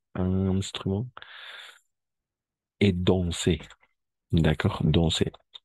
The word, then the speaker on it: danser: Danser. La AN, en général, le AN, on va prononcer comme on, d'accord? On va nasaliser, danser, d'accord? Comme ça, danser.